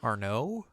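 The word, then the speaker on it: Arnaud: you say his name Arno Arno wait but it's got a d at the end do not say D's in French I mean I can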